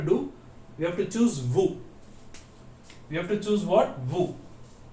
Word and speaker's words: vous: We have to choose vous. We have to choose what? Vous. So you know the spelling of vous, V-O-U-S, but we should not pronounce the S when we speak in French.